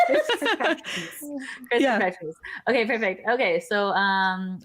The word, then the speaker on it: Chriskirkpatrickmas: How do you pronounce it? Chriskirkpatrickmas.